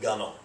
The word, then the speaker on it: gunwale: The same with gunnel, okay? That rhymes with funnel, but it's spelled gunwale, but sometimes you'll see it with the apostrophe to indicate the way it's pronounced.